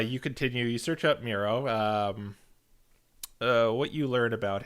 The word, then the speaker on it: Miro: his name that black bar turns into an m-i-r-o oh his name is miro yeah i was always pronouncing it here we go super mario yeah muriel and muriel um rodney why don't you give